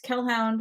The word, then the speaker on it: Kellhound: I am on Twitter as Kellhound, which is spelled like Hellhound, but with a K.